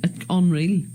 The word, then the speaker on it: Onreal: Onreal, but it's spelled with an O.